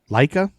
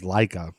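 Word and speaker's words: Laika: okay and then on November 3rd 1957 laa Leica mhm have you heard of the Russian dog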